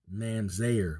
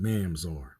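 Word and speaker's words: ממזר: Mamzer, but really it's pronounced Mamzar.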